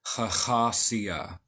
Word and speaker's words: Hahasiah: of these videos and following Cornelius agria we pronounce this khasia and in English following